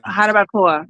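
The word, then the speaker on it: Jarabacoa: Habacoba? Uh-huh. Habacoba? Yeah. Harabacoa. I Mm-hmm. think yeah, the pronunciation for me always gets me.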